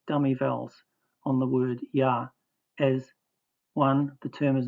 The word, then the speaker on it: Yah: The dot in the hay is a mapique which shows the hay as a consonant to be pronounced.